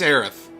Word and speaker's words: Aerith: Or this whole connection to Aerith. Or Eris. I think it's Aerith.